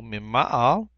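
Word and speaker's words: מִמַּעַל: Number 6 is mim ma'al, accents on the first syllable, mim ma'al, hamizbeach, mim ma'al, hamizbeach.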